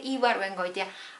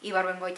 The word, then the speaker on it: Ibargüengoitia: that I like the most, and it's Jorge Ibargüengoitia. I know it's difficult to pronounce his last name, Ibargüengoitia.